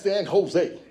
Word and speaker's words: San Jose: I said, man, that's San Jose. I said, best way for you to understand when you get to California, anything that starts with a J, pronounce it like it starts with an H.